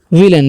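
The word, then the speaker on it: villain: विलन देखिए वी से क्या होता है व, आई से हर्षी, और डबल एल है तो लॉ पढ़ना है, ए आई जब भी रहेगा किसी इंग्लिश वर्ड में तो एक ले देना उच्चारण, एन से ना, तो हो गया विलेन।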